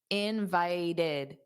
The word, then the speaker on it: invited: This ed d functions as an extra syllable. Invited. Invited. There are three sounds, but that ed isn't stressed. So, it's the the second syllable that's stressed.